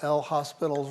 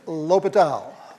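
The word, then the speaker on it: L'Hôpital: you do you use that famous rule that we all mispronounce when we see it written right we'll use the good old l hospitals rule okay it's l'hopital l'hopital's rule you have to differentiate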